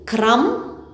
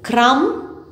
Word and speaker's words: crumb: so once again please repeat it with me crumb num succumb aplomb damn once again crumb num succumb at long damn okay so either